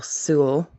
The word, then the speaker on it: Sewell: more said lieutenant michael sewell rhymes with newell who directed the undercover